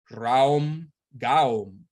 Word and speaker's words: Raum Gaum: The following mantra, Raum Gaum, is most effective for dream recall. Saman Vior explained how each word is divided and prolonged into 2 syllables, like this. Ra, Om, Ga, Om. Do not worry about whether